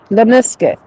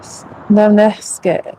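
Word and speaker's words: lemniscate: Well, how do you pronounce it? Lemne lemnisket? Lemnisket. Lemnisket.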